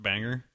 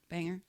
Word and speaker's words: Bangor: And I believe it's pronounced Banger. Banger.